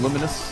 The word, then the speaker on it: Lumines: Uh, the game is actually pronounced Luminous.